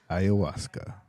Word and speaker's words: ayahuasca: they drink their Ayahuasca you're not saying it right say it Waltz Ayahuasca that's how you get to say that one wasn't very good